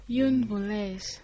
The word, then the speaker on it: une voleuse: Une voleuse.